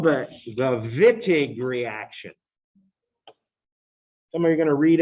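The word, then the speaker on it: Wittig: that's called the the vitig reaction somebody you're gonna read about the vitig reaction foreign say it like it's a double v uh most countries in the world that's how they say that letter by the way if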